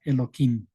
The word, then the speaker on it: Elohim: Y aquí, en vez de pronunciar tal como está escrito, se le pronuncia Elohim.